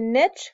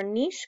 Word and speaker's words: niche: The niche concept or niche concept, I've heard it both ways by different scientists, so either way you want to pronounce it is fine, says that each species